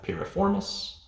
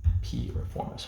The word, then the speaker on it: piriformis: Now finally, we're going to have piriformis. We just remember this as P. Reformis. P. Reformis.